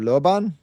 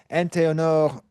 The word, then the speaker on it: Anténor: Here is uh from the international encyclopedia of the histories of anthropology by Carolyn Fuuro Lobanor Antenor. Sorry, I was saying his name wrong.